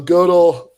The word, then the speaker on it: Gödel: So one of the most fun examples he gives is Goodell, the and Goodell. I don't know how do you say that. He Godel? Sure. Okay. So Godel, if you go out into the street and